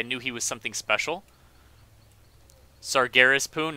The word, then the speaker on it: Sargeras: Sargeras Poon, not Sargeras. Oh, my bad, man. I always mispronounce that name.